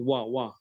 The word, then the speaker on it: were: this the pronunciation is wa Wow.